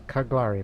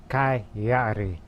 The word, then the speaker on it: Cagliari: pronunciation of it on a previous episode i mispronounced as cutlery but no it's coyote Chi yari remember it now in the northern half which